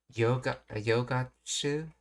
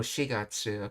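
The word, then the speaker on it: 四月: and then no yogatsu, I think she said. Let's see. 探してるんだ。今年の4月。 Oh, shigatsu. Okay. So in other words, from April of this year's for the number with gatsu is how you say the name of the month. So shigatsu is April, but if you wanted to say a quantity of months, you would use getsu, or something like, I guess, shikagetsu, 4 months.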